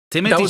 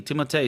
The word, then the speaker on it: Timothée: What do you mean, Timothée? It's not Timothée. He said that his name is Timothée. Really? Yeah, but everybody calls him Timothy.